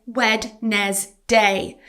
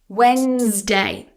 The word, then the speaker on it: Wednesday: A common misprononunciation here is wed day. So you're pronouncing letters that should be silent and adding an extra syllable. But actually this word is just two syllables and the d is silent.